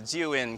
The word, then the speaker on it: Zhiyun: I watched the pronunciation just before this video. It's called the Zhiyun crane.